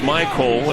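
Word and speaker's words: Mycole: That's Michael. It's spelled M-Y-C-O-L-E.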